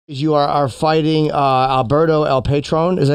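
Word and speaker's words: El Patrón: You are fighting Alberto El Patron. Is that how you say his name? Or Patron? Patron. El Patron. El Patron.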